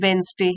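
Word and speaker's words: Wednesday: चाची मर गई ऑन वेनसडे यहां पर डी साइलेंट होता है वेनसडे मींस बुधवार को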